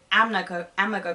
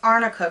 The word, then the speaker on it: arnica: Like when Elaine, that's her name, when she said Amica cream, I'm like, oh my god, that's not how you say it. Like, how are you a lawyer, a certified lawyer, and you can't even pronounce arnica cream?